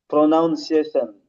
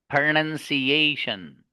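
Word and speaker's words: pronunciation: प्रोनाउंसिएशन। ना, इसमें ये रॉन्ग है। अच्छा। इसको पढ़ेंगे प्रोनंसिएशन।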